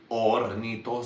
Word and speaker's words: Hornitos: You don't pronounce the H, It's ornitos, That's how I'm going to say it.